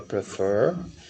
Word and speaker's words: prefer: Vem aqui, ó, stressed syllable. É a segunda, fur. Aí eu posso ouvir aqui, caso eu queira. Prefer. Prefer, fur. Então a tônica é a segunda.